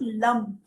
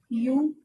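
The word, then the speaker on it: Lam: It is LUM, LUM, and you pronounce it and you chant it. Sorry, chant it this way, LUM, LUM, LUM. You do it in counts of 3, like say LUM thrice.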